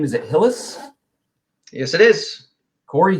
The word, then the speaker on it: Hillis: do you say your last name is at Hillis yes it is Corey Hillis all right Corey helmets owner and founder of